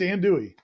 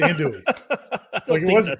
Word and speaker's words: andouille: it i mean i think it was just ann dewey i think it was just and dewey i listened to it and it wasn't it